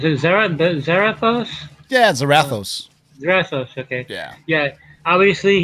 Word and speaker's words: Zarathos: Okay, you gotta help me pronounce it. Zarathos? Yeah, Zarathos.